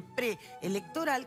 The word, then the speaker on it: preelectoral: Hay algunas palabras, como se dio esta semana el caso de preelectoral, que ustedes se dan cuenta que cuando la pronuncian están pronunciando las dos vocales.